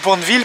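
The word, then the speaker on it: Bournville: route pour B village le village de boureville prononcé à la française et qu'est-ce que c'est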